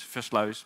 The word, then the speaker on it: Versluis: My name is Versluis. No, it's Versluis, but no one can pronounce that outside of the Netherlands.